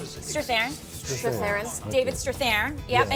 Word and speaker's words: Strathairn: Strathairn.